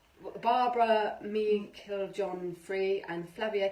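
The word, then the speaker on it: Meiklejohn-Free: really nice cards they're by Barbara are kind pronounced Barbara meaning killed John free and Flavia K Peters who is a very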